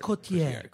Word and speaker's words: Cotillard: I think Marion Cotillard. It's just Cotillard. Isn't it Cotillard? Isn't that how you're supposed to pronounce it?